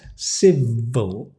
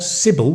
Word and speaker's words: civil: civil civil meaning polite civil civil not civil which is a name but civil Civ V civil I'm civil please be